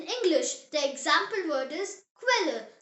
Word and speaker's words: Quelle: The example word is Quelle.